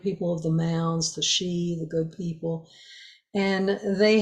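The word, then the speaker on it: sídhe: also called the she s-i-d-h-e pronounced the she and the question after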